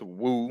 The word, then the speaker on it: WEAUXX: It is pronounced Woo, and it's spelled WEAUXX.